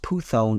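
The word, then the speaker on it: πύθων: divination means poof python which is pronounced puthon in Greek who brought her Masters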